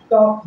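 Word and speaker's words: talk: ओ तो यहां देखिए एल के बाद के है इसलिए हमारा एल साइलेंट रहेगा इसका उच्चारण नहीं होगा तो एल के बाद के है इसलिए यहां उचार नहीं होगा टॉक होगा टॉक मतलब बात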